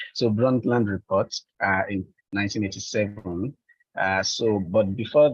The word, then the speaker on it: Brundtland: And that was in 1987 at the UN conference at the during the Brundtland. Sorry, this one is always difficult for me to pronounce because of the D. So Brundtland report in 1987.